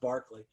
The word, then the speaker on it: Berkeley: of the things that you're working with Bishop Berkeley is kind of along these ideas, right? So he's one of the people who's an idealist, even though he's an empiricist. It's pronounced Berkeley.